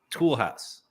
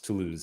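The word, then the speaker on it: Toulouse: like oh my God tool house tool house sorry for anyone who hasn't watched or listened to S Andrews last week Andy somehow decided to pronounce to lose as tool house legendary house love it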